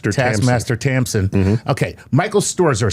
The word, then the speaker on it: Stoerzer: Michael Storzer.